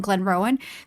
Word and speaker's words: Glenrowan: There's just an extra syllable on Glenrowan.